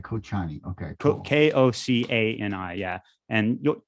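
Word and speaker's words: Kočani: Kochani, which is also a city in Northern Macedonia, it's Kocani. And Kocani, Kochani.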